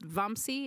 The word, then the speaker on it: Vamsi: And is your name pronounced Vamsi? Is that correct?